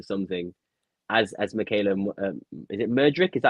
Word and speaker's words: Mudryk: turn nothing into something, as Michaela, is it Mudryk? Is that how you pronounce his name? Yeah, Mudryk.